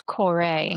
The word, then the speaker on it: Kore: Is it the So, you you actually pronounce the E. So, it's Corore.